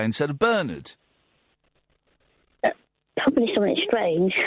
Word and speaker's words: Bernard: Do you know what Americans say instead of Bernard? Probably something strange. Bernard.